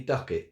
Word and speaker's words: Ducat: well it's actually Andy Ducket so had that in confirmation yesterday um that he actually used to call himself Ducket so um that's pretty